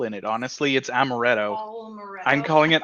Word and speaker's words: amaretto: l in it honestly it's amaretto i'm calling it almoretto because it's got almonds in it i guess but there's no l in it so i'm just pronouncing